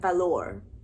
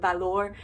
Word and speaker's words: valor: English is Valor but in Spanish you would pronounce it like Valour if that makes sense so everybody was like